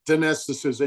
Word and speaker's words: Dinesh D'Souza: And we know the censorship on this platform and others, but there's so many that Dinesh D'Souza, is that how you say his name? Dinesh D'Souza, yeah.